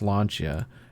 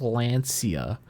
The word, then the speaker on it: Lancia: I point out I taught slap how to pronounce lancha and then he put out the video and some kid on Twitter was like actually it's pronounced Lancia yeah and then I put a get ready